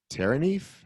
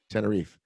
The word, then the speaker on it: Tenerife: mountains of oberendorf to the seaside of terraneef how do you say that anna reef tenerife yes that's in spain i know i thought